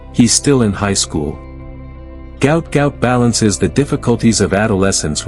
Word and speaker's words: Gout Gout: His manager said, "Gout Gout is how it's said," despite some misunderstandings over how to pronounce it.